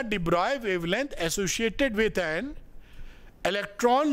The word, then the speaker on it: de Broglie: डिब्रॉय wave क्या होती है, लिखते डिबॉर्गली हैं, पढ़ते डिब्रॉय हैं।